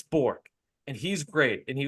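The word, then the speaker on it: Bourque: there Maverick Bor I his name is spelled Bor but people say bork York and now I say Bor bork but I think it's bour and he's great and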